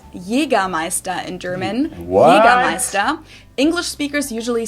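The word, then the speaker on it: Jägermeister: the way from shoes to alcohol this is pronounced yiga maesta in German English speakers usually say Jagermeister which is pretty much the same just with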